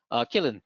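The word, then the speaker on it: Qilin: Killin, sorry, it's spelled Quillin, but it's Killin, right?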